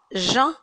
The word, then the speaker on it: jeun: Répétez avec moi, je suis أنا je suis à jeun. صائم à jeun, à jeun, jeun, un. D'accord. Je suis à jeun. واخا هي كتكتب jeune ولكن كتقرا jeun. D'accord. C'est la prononciation correcte.